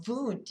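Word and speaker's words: Wundt: Now vent is spelled w n dt who you might have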